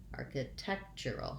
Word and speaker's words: architectural: happens at the beginning i still have my arc arca architectural i'm just going to have more length there in the middle syllable when i can say